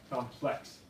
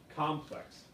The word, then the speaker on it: complex: It's pronounced differently for adjective and noun meanings. So as an adjective, it's complex. And as a noun, it's complex. The stress is on different syllables.